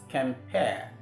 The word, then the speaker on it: compare: in the first syllable, the vowel there is a schwa sound. The sound you have between ka and ma is the schwa sound, which is the 12th vowel. Now, that sound is a weak vowel. And because it's a weak vowel, the stress doesn't fall on that syllable. It goes to the second syllable, which is why we have it as compare.